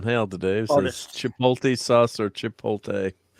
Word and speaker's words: Chipotle: today multi sauce or Chipotle I can never say Chipotle that's because you're putting in the fastest on the wrong syllable yes I would say